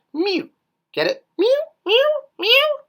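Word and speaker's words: miw: and then the chick for w so it's pronounced Mew get it Mew me me what do you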